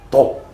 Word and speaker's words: 닭: 독. 그러니까 닭이 옛날엔 이런 표기였거든. 그러니까 이게 아직도 이제 제주도 사람들은 오와 아의 중간 발음인 거지 아래아 발음으로 발음해가지고 제주도 토박이 할매들은 닭을 자꾸 독이라고 해, 독.